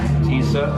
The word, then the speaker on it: Tisza: Tisza.